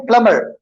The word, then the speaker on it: plumber: So John is a competent प्लम्बर, प्लम्बर में B silent है यहाँ पे, ओके।